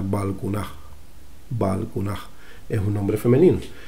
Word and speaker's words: Balkuunah: evidencia clara de que no se pronunciaba ya esa T y se quedaba como una aspirada igual que aquí. O sea, Balkunaj.